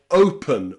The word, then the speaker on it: open: But today, remember, the letter E is very often pronounced as a schwa sound, okay? In words like happen or open or often, okay? The E and the N there is pronounced with a schwa.